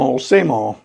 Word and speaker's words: old: A lot of times when people say the word old, they leave the D off. They don't pronounce it. So same old is the way you tend to hear this phrase.